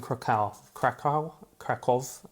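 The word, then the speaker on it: Kraków: and I was in cal cal kov that's a kov that's how you say it in Polish I don't know how you say it in English properly um old Spider-Man drawing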